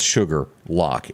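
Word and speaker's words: Shuqualak: this watching the betsy all the way from sugarlock mississippi and for the folks that are watching uh watching us from other parts of the nation it is not spelled sugar lock s-u-g-a-r you would think that yeah it's the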